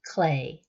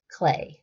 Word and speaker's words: Klee: whose name is Paul clay it's actually spelled KL EE but pronounced clay he is of German